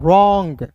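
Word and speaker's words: wrong: फिर देखिए डब्ल्यू के बाद आर आया तो डब्ल्यू को silent. R ओ एन जी को पढ़ेंगे दोस्तों रॉन्ग।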